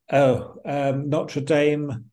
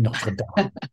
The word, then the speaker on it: Notre Dame: Yes, they were at Notre Dame. Yes. Yes, yes. Yeah. So, I'm trying to pronounce it the American way as opposed to going Notre Dame.